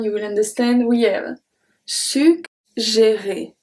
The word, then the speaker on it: suggérer: And we are going to see another case when we have two G in the middle. But this time it's going to make a G sound, the hard sound, and then the soft G.